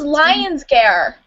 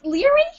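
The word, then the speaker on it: Laoghaire: I thought it was Lion's gar I thought it was Lion's Gare oh my gosh wait it's leri it's leri I I first pronounced it as as um as low care what's with me and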